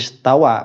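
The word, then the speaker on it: استوى: Itu kan makna yang dipakai oleh sebagian ulama, bukan merubah hurufnya, dibacanya tetap Ar-Rahmanu 'alal arsy istawa begitu, bukan 'alal arsy istaula, tidak, tapi Ar-Rahmanu 'alal arsy istawa, bukan istaula.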